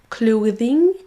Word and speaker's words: clothing: closing then this Vous voyez qu'il y a une différence fondamentale entre ces mots parce que c'est pas du tout les mêmes suivant si vous prononcez bien le th ou un son z.